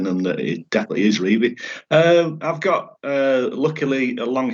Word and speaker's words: Revie: But honestly and truly, and I've spoken with family members of Don's, and the answer has always been, yes, it's pronounced Revie.